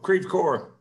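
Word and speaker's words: Creve Coeur: were to crevice coraz or how you ever pronounce that c-o-e-u-r oh creepcore yep i i live about 15 miles north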